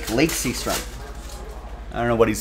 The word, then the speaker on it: Lake Seastrunk: And his name is pronounced Lake Seastrunk.